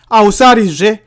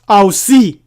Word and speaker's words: Ausari: The Bantu Chikaranga is Ausari. Ausari, not Ausi.